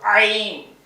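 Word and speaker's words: عين: அடித்தொண்டில இருந்து படிக்கணும். ஐன் கைய வச்சு இந்த அடி தொண்டை தொண்டை குளியில அழுத்தினா அது சவுண்ட் வந்துடும். ஐன் ஐன்.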